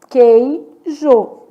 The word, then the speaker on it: queijo: Queijô. Quantas letras e quantos fonemas? Então, na palavra queijo, seis letras, cinco fonemas. Adígrafo, porque o U não é pronunciado, o U é nulo.